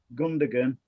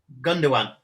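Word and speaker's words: Gündoğan: But I can see Gundogan, if that is the 11, just dropping back and letting Say that name again. Who? Say that name again. Gundogan.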